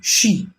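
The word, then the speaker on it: xi: screen the next is x-i z pronounced like she which connects the whole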